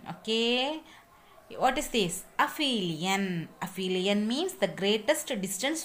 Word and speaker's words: aphelion: Please note my pronunciation. Okay. What is this? Aphelion.